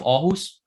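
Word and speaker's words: Aarhus: Danish were written with a double A but pronounced or like the city of orus um and nowadays it's basically the those two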